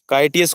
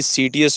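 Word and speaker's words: Citius: काइटियस को आप भाई सीटीएस पढ़ लीजिएगा। ठीक है, काइटियस को आप सीटीएस पढ़ लीजिएगा, because we are habitual to pronunciation सीटीएस।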